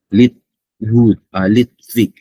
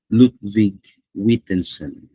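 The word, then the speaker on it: Ludwig Wittgenstein: Now let's talk about the uh the public language challenge or the public view according to uh Litvig. No, it's Lut Lutvig Lutvig Witenson that's how we pronounce this name who essentially flipped in the script.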